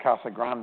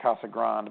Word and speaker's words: Casa Grande: I I pronounce it Casa Grande everyone else there called it Kasa Grand but I don't know what do you call it well I've learned to say like the locals KAS Grand yeah KAS Grand I